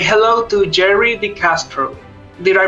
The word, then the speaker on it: DeCastro: new guest for today say hello to Jerry decastro did I pronounce it correctly by the way yes yes